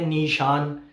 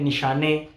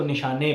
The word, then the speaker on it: Nishane: कुछ लोग कहते हैं निशाने, कुछ लोग कहते हैं क्या कहते हैं इसको, मतलब इस ब्रांड का नाम। बट फॉर मी, मुझे प्रोनाउंस करना ज़्यादा बेहतर लगता है कि मैं इसको निशाने पढ़ूँ, निशाने।